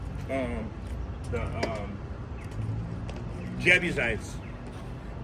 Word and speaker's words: Jebusites: how do you say um the um Jebusites and the Jebusites.